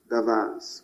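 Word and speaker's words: דבר: C'est dabar, le mot dabar, davas, pour certaines prononciations.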